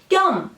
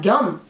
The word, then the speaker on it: 겸: It's always pronounced with the tense sound 겸, not 겸.